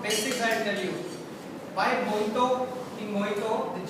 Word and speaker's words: mojito: So this is the reason your mojito, in the mojito J is called as H. Okay, it's called mojito.